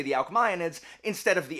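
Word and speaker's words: Alcmaeonids: and so I put I tend to pronounce things the way that Latin is pronounced so the AES I'm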